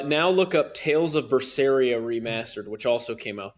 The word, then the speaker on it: Berseria: How do you spell it? You have tales of it. B E R S E R I A. What's that first one? Vasperia.